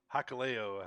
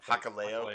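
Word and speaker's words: Hikuleo: was defended by Sir Lance Arthur against um hulio is that how you say his name uh yeah hakalo hakalo and he's he's the one who came out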